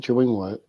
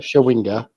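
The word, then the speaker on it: Chawinga: Now, Tabitha Tabitha Chawing, I apologize. I pronounced the name wrong. Got my tongue titled. Tabitha Shawinga. There we go. There we go. Giving her the respect to pronouncing her name properly.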